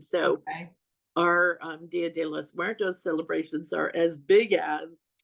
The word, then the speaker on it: los Muertos: I'm from New Mexico, so I should be able to pronounce this properly. Dia de Yeah. los Mortis. Los Muertos.